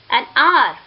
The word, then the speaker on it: hour: not sounded, which means H is silent in these words, and these words begins with the vowel sounds. For example, an honor, an hour, an honest man.